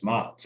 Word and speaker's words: Matz: I mean, the way JT pronounces it is the right way. So it's Matz.